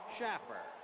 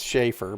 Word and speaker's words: Schaefer: Paul Schaer. It's Schaefer, but okay. You You pronounce it however you want.